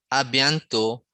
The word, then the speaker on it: à bientôt: A bientôt, a bientôt, a bientôt. Okay, there's no T at the end. That's because French language, we are not pronounced the last letter.